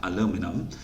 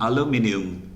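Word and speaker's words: aluminum: 않습니까 자 근데 이제 이게 미국 사람들 발음은 조금 달라요 이거는 알루미늄이라고 합니다 알루미늄 근데 이제 우리가 알고 있는 알럽미니움 이거는 자 영국식 발음에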